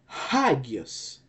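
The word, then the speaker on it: ἅγιος: Well, it's the red letter here, alpha, because it bears the acute accent again. So it's gonna be hagios.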